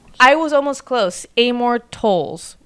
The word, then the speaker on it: Towles: about this is table for two by Amore towels did I say his name right tows oh amore to TOS I was almost close Amore tolls right TOS tolls table for two by Amore